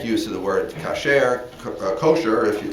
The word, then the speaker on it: kosher: okay in modern jewish american it's usually called kosher so it's usually pronounced for the accent on the first syllable